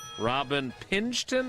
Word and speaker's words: Pingeton: Robin Pingeton, I think that's how I'm supposed to say her name. Yep, that's correct.